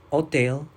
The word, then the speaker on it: hotel: Hotel, hoteles. In Spanish, we don't pronounce the letter H when it's at the beginning of a sentence.